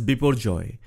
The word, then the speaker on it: Biparjoy: Cyclone is named as before Joy taking into consideration the Bengali pronunciation where the letter a is pronounced as o although the spelling is